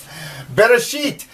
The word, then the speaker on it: Bereshit: Bereshit, the first word. Remember, we're reading from right to left. You can sound it out. Beit, ba, resh, r, aleph. They actually say it's a silent letter, and you don't...